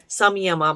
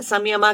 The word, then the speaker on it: संयम: संयमा बन जाता है ना। संयमा क्या है? संयम है एक्चुअली सही शब्द, और उसका प्रोनाउंसिएशन संयम है।